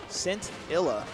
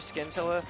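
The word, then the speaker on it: Scintilla: Cintilla. Or it's either Cintilla or Skintilla. It's not Skintillaa. It is. Okay. So, the C is silent like I thought.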